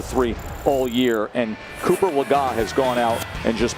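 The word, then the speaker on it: Legas: Player spotlight is brought to you by Cameo Cooper Lagon. That is the correct pronunciation as we corrected ourselves just a few minutes ago.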